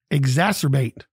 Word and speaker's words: exacerbate: we do it is a four-syllable word exasperate exacerbate e x a c e r b a t e it is a transitive